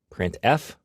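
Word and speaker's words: printf: these three are the most popular they are pronounced print F put car and puts each function is designed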